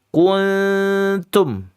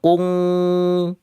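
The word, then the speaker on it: كنتم: Kuntum. Adik-adik bacanya jangan kun atau kung atau terlalu lebar. Kuntum. Kun ini karena ikhfa'nya akrab, ikhfa' yang dekat, dia hampir N tapi tidak N.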